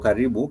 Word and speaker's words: karibu: I did say the word karibu is for karibu. Karibu is for welcome. Karibu. We shall talk about the common phrases in Swahili. Karibu is very, very popular. Welcome. But you can see for karibu, it has syllables with alternating vowel sounds.